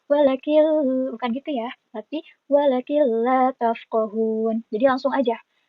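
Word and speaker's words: وَلَٰكِن لَّا تَفْقَهُونَ: Dan perlu diingat juga cara bacanya bukan walakin la, bukan ya. Walakin la, karena ini ada nun mati. Nun mati itu kan jadi N ya. N ketemu lam. Jadi bukan walakin lam, tapi walakil lam. Nah, kayak gitu ya. Walakil la tafqahun.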